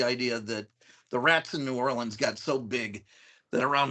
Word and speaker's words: New Orleans: Or Nyolans. Okay, I went to LSU, so I got the pronunciation, because it's a weird one, is New Orleans.